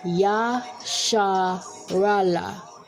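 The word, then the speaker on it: ישראל: face of this earth yes that would be israel which is the english deficit pronunciation of our native tongue yaa sha raala which will be the 12 tribes born from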